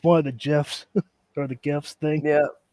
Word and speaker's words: GIF: Giraffe versus graph or gif versus gift. I mean it it's GIF is literally gift without the T.